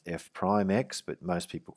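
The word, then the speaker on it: f′(x): write it as f dash X it's actually pronounced f prime x but most people call it f dash X Y prime or y dash or dy over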